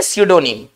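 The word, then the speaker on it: pseudonym: से जबरदस्त वर्ड है, क्योंकि हम उच्चारण कुछ और कर रहे हैं, लिख कुछ और रहे हैं, ठीक है ना। इसको हम पढ़ेंगे सीडोनिम, लेकिन लिखेंगे पी से, ओके।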